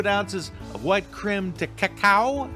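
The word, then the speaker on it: crème de cacao: of white crem to cacao I think that I'm pronouncing that right it's not cocoa the one qu fluid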